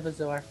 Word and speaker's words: bezoar: And, I got a Bezoar, I think that's how I pronounce it. Right? Yeah, it's a Bezoar.